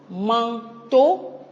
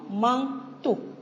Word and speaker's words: manteau: On met l'accent sur la syllabe to. Nous disons manteau et non manteau.